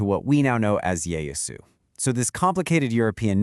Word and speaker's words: Yaesu: the time, they kind of adapted it to Yayosu. And as the centuries rolled by, that pronunciation organically shifted to what we now know as Yayasu.